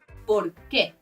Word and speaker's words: por qué: Por qué ¿Por qué no me avisaste? The accent does mean you emphasize the qué and you separate the words a bit: ¿por qué?